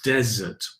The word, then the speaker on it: desert: that's the desert right the stress is on the first syllable desert one s a dessert